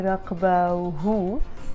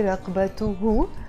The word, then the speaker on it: رقبته: sound in the end, of course I'm going to pronounce the تي مربوطة because I can't say رقبه. That's why we say رقبته.